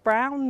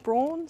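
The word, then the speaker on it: Braun: brown and Clark and it's pronounced brown not brawn so you're in the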